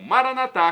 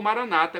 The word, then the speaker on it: Maranatá: E agora do aramaico, dialeto de Jesus, eu clamo Maranatá com a tônica na última sílaba, como dizemos nós católicos, ou Maranata com a tônica na penúltima sílaba, como dizem nossos irmãos separados, os evangélicos ou protestantes.